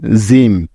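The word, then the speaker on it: gym: জি ওয়াই এম জিম লক্ষ্য করো এই শব্দটির প্রথমেই আছে জি তাহলে জি এর উচ্চারণটা কি হবে এখানে সেটা জানার জন্য আমাদেরকে দেখতে হবে যে জি এর পরের বর্ণটা কি আছে তাইতো এখানে আমরা দেখতে পাচ্ছি জি এরপরে ওয়াই আছে তার মানে জি এর পরিবর্তে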